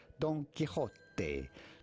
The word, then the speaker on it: Don Quixote: With the typical Spanish pronunciation, the X in Spanish is pronounced like a J, like a J. So you have to say Don Quixote.